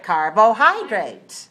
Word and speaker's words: carbohydrates: oh that's a difficult word let me help you with this word carbohydrates how many syllables do you do here carbohydrate four syllables right all right where's the stress three all right carbohydrates okay good how much